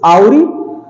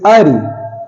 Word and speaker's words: awry: W is silent before R. R के पहले कहीं पर भी W आएगा, W becomes silent. Okay, let's see some examples. Like first word is AWRY. It's Auri, it's Auri.